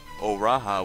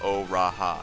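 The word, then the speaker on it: O'Raha: Though followed by an apostrophe, the tribe sound is usually flows into the name. O-Raha would be pronounced O-Raha, not O-Ra-Ha. So O-Raha Tia, O-Bien Tia, Uda Nun, Uda Noon. Again, very flowing.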